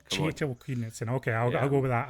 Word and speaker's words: Kjetil Knutsen: By the way, just while we're on it, John, Kjetil Knutsen. Come on now. Kjetil Knutsen.